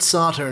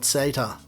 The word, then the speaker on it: SATA: We call it SATA in Australia, not SATA. Deal with it.